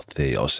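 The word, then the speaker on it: Thaos: um I am curious what what Thos has uh or Theos as they pronounce in the game.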